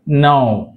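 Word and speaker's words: knee: అంటే మాక్సిమంక మరియుఎన్ కాంబినేషన్ లో వచ్చినప్పుడుక అనేది సైలెంట్ అవుతుంది గుర్తుపెట్టుకోండిక మరియు ఎన్ కాంబినేషన్ లో ఉన్నప్పుడుక అనేది సైలెంట్ ఉంటది ఇక్కడ చూడండి నో K silent నౌ డు యు నో అంటాం కదా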